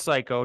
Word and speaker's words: Cayko: name on LinkedIn last name c-a-y-k-o pronounce psycho don't forget it and